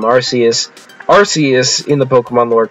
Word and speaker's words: Arceus: So in the Pokemon lore, this guy, his name is Arceus or Arceus, there's multiple different official pronunciations, so I'll call him Arceus.